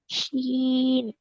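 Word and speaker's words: ش: শিন। শিন। এই শিন হরফটা শব্দের কোথায় আসবে? মাঝখানে। মাঝে আসবে। শিন উচ্চারণ করতে হবে শাসা আওয়াজে।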